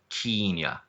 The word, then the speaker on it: Kenya: Some journalists have noted that Banks pronounce Kenya with a long e to sound like Keen-ya.